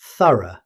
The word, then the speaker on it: thorough: In British English, it's usually pronounced thorough. The GH is completely silent.